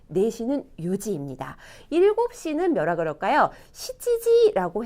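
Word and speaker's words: 七時: 시지지라고 해요. 그런데 가끔 나나지라고 아주 강조, 7시를 굉장히 강조하고 싶을 때 나나지라고도 말을 할 수는 있어요. 보통은 시지지라고 합니다. 그리고 9시 같은 경우도 숫자 9가 큐 긴 발음도 있고 쿠 짧은 발음도 있었잖아요. 큐지도 될 것 같고 쿠지도 될 것 같아요. 그런데 일본 사람들은 큐지라고 말하지 않아요. 거의 말하지 않고 쿠지라고 합니다. 그래서 4시는 요지, 9시는 쿠지, 7시는 시지지, 나나지 두 개 다 가능하지만 시지지를 더 많이 쓴다.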